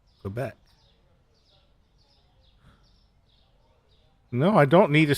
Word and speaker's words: Quebec: There's no W sound. I didn't say there was a W sound. I'm not saying Quebec. I'm saying Quebec.